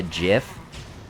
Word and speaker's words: GIF: anyway they're like um it's actually uh jiff if you're gonna use the type of image then you need to say it correctly or else he's rolling